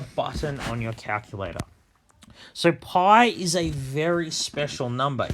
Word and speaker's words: pi: is the Greek letter for P we actually pronounce it PI P I so there is a button on